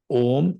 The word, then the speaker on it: Om: So in Buddhism, Om, the syllable Om is made of three letters: A, U, Ma. Not A, Oma. A, Uma. Combined together, it becomes Om, not Okay.